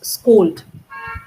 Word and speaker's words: scold: And can you quickly pronounce scold?